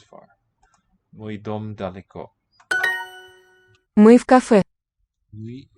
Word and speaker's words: в кафе: Мы в кафе. Мы в кафе. Мы, I am in the cafe, not the coffee. So, v preposition in with the following k, which is voiceless. It'll sound as a f.